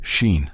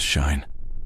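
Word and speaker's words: Shein: The name's Sheen, spelt with an E-I-N instead of an I-N-E. "Nice to meet you, Miss Shine.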